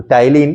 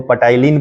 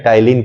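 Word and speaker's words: ptyalin: तो टाइलिन, कितना बच्चा इसको पटाइलिन पढ़ लेता है, तो पटाइलिन नहीं पढ़ना है, ठीक है ना, टाइलिन पढ़ना है। ओके, तो टाइलिन पी साइलेंट रहता है।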